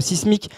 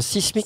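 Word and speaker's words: Cysmyk: amusant, c'est que Sismic a eu besoin lui-même de faire appel à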